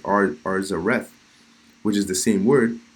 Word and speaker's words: Arsareth: Now, when you look up the word Arsareth in the Jewish encyclopedias, it's pronounced Arzareth, which is the same word.